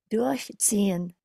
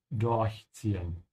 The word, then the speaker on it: durchziehen: Durchziehen. In this case, you can see that from the dot, but you have to emphasize the prefix, and this is also true because this is a separable verb.